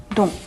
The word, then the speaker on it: dont: 자, 마지막은 동. 자, 희한하게 생겼죠? 자, 이거는 영어의 don't로 자꾸 생각하셔서 이걸로 착각하시는 경우가 있는데 자, 발음은 동. 끝에 때 발음은 하지 마시고요. 동 이렇게 읽어주시면 되겠습니다.